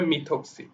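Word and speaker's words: methoxy: তো এটা উচ্চারণ অবশ্যই, যেহেতু CH3 এর সাথে আছে, সুতরাং এটা হচ্ছে মিথক্সি, এটা উচ্চারণটা হবে মিথক্সি।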